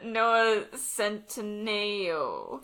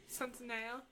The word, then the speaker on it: Centineo: little kid, to like you grew up into Noah Centineo. That's how you say his name, right? Centineo? Yeah. Centineo.